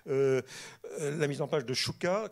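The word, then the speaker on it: Szczuka: La mise en page de Szuka, qui était comment Stuka, alors bon, mais ça s'écrit SCZSZ, donc il faut pouvoir suivre, hein, UKA, Szuka, donc Stuka, ça se prononce, c'est ça, Stuka, pardon, donc qui développait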